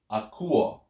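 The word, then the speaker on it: ἀκούω: So the syllable before the ending is the u sound. U. So you have akuo. Okay, that's where the accent falls.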